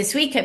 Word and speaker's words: Suiko: Its longest reigning empress was also its first, Suiko, is that how you would pronounce it? Suiko, Suiko. yes.